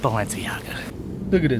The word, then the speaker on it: Balenciaga: people tell me it's actually pronounced valence it's pronounced Balenciaga dude oh you're packing it look at that